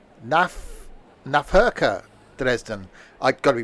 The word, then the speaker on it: Nahverkehr: German V is pronounced like an F. Nahverkehr Dresden.